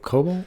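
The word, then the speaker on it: Kobol: Lords of cobalt is how they say it.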